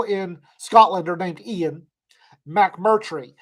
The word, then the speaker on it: McMurtry: It's pronounced exactly like it's spelled. Rita, she's on here somewhere, has a rant about the first time that somebody decided to mispronounce my name, because nobody ever gets it right, and they always put letters in my last name that aren't there. McKittrick. There's no K in McMurtry anywhere.